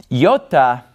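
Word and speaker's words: iota: moment Yoda Kappa lambda now yota if we were to pronounce it in slow motion would be yota yota and it makes an e sound because it starts on an e yota yota so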